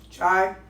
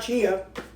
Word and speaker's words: chai: chai coffee but that how you say it chy I know it's not Chia ch ch chiaia pet I know it's not Chia cuz it's AI by the way the